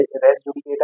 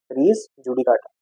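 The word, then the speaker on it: res judicata: Pronunciation again बोल रहा हूँ, हमारे लैंग्वेज है नहीं तो चेंज अलग अलग हो सकते हैं, रेस जुडिकेटा या रीज जुडिकाटा।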